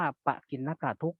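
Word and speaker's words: ปกิณณกทุกข์: กิน นะ กะ ทุก อัน นี้ อ่าน ว่า ปกิณณก ทุกข์ หรือ ทุกข์ จร ทุก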